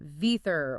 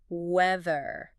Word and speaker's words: weather: It requires sticking the tongue out slightly between the teeth. You actually have to bite your tongue a little bit. And then, this is the crucial part, you have to vibrate your vocal cords. It's voiced weather.